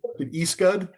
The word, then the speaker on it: ECSUD: I guess it's pronounced different ways by different people. John, it is Eastgood.